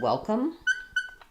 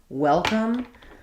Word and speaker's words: welcome: So you can think about it like well, come.